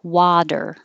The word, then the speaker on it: water: This was an example of T changing to D, but the T has to be in the unstressed syllable. So this is possible with water, water, but it's not possible with attack. We have to keep that T a T because it's in the stressed syllable.